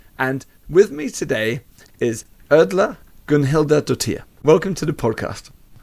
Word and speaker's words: Erla: host Joe burage and with me today is erler Gilda welcome to the podcast thank you J thank you and perfect pronunciation thank you thank you so for our